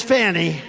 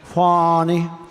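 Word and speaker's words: Fani: fonnie well it's now even though it's I believe it's spelled f an i to my way of thinking that's Fanny but when she became the district attorney I think she put a little emphasis on the U fonnie so corrupt fonnie Willis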